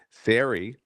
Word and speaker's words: Sari: We'll even get to know how to pronounce her name correctly. So, and let me see if I get this right. Sari You nailed Beliak.